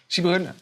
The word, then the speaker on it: Sijbren: Sibren, you pronounced my name correctly.